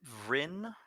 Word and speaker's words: Vrin: We've brought up Vrin. I'm not sure if I should roll the R there or not, but he has two questions. And you said it right, actually. Don't ask me why I put the second R in.